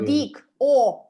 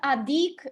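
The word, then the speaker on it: одӥг: Одик. Колесо, молоко, водовоз. Все произносим через О. Одик. Угу. У нас никаких адик, Москва, вот такого нет. У нас там, где О, там четкая круг.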